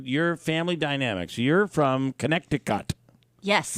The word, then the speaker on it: Connecticut: family Dynamics you're from Connecticut yes right thank you for pronouncing all the t's uh well that's how